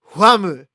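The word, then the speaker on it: Wamuu: that i was like oh huamu like wham but that's like the way that they would pronounce it so i was dumb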